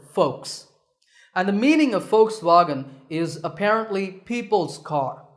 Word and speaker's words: Volkswagen: personally used to say Volkswagen but I have since learned that the initial V is actually pronounced as an F sound in German so the first part